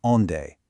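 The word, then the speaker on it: onde: And rounding out our core three is on day. Say it like on.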